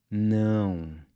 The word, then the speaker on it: não: Let’s take the English word “**now**” as a starting point. Then, we’re gonna add an **“N-G”** sound to the end—“now-ng”. Now, try keeping your mouth just barely open when you say it… “não”… “não” So if you wanted